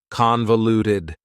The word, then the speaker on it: convoluted: That second syllable again has that schwa sound, that reduced vowel sound. Convoluted, convoluted.